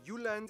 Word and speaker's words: Jylland: I'm going to pronounce the location names in their proper Danish context. Oh. So Denmark is made of the Jylland. Yeah, Jylland, yeah.